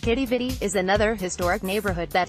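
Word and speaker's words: Quidi Vidi: once upon a time qui DVD pronounced kiddie vide is another historic neighborhood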